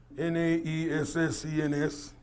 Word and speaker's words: Naessens: I'd hardly moved to California, to say that my friend Gaston Naessan, and you pronounced it perfectly, Naessens.